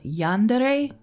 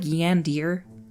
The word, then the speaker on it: yandere: comments down below there's a Japanese word called yandere I believe it looks like yandir when I first saw it but I had